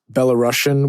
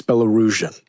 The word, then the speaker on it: Belarusian: also in this conversation you'll hear me say Belarusian when referring to people in or from Belarus but that's actually not the right way to say that Margot was way too